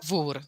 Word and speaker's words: Wor: Our guest today is mezzo-soprano Vor. Am I pronouncing your name correctly? Vor? Yes, it's Vor.